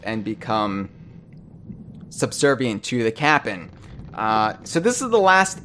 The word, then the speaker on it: Cap'n: they meet a Skelly who's just called the Cap'n it's so spelled like Captain Crunch yes yes CA P '